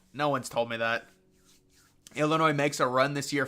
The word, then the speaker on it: Illinois: ] like on CBS they were like Illinois they were they were pronouncing the S I was like how